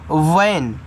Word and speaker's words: van: आगे VAN, इसको पढ़ते हैं वैन। तो V से आपका वा, ए का उच्चारण ऐ की मात्रा के रूप में, एन से आपका ना, VAN वैन।